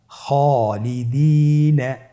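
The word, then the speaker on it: خالدين: আলিফের উদাহরণ আপনারা দেখতে পাচ্ছেন, খায়ের উদাহরণ খালিদিন। খায়ের পরে যেহেতু আলিফ হরফটি রয়েছে তাহলে আপনার আলিফ হরফটিকে মোটা করে পড়তে হবে।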